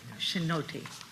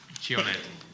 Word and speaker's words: Chionetti: Chinotti. Chionetti. Alejandro Chionetti, sí, Okay. representando a Argentina. Welcome. Se puede pronunciar Chionetti también, como quiera.